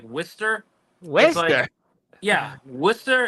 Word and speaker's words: Worcester: ] good well listen it's not pronounced Worchester I mean I was getting flamed for months it's like Jake's probably gonna kill me I'll probably it up now but it's like whester wer yeah Worster it's